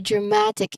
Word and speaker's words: dramatic: Yeah, the movie had a very dramatic ending. So, the stress syllable here is ma. Okay, ma. Because it's right before I Okay.